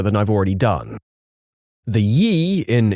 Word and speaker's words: ye: I've already done the ye in e oldie is actually abbreviated as an early modern English letter called Thorn that was pronounced like th so it's pronounced more